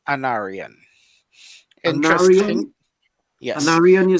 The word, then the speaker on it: Anarion: to butcher my name, but it's pronounced Anarian.